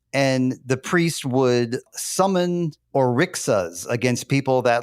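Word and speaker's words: orixá: was a priest, and the priest would summon orixas against people that like had debts. Oricha. Thank you for your better pronunciation there.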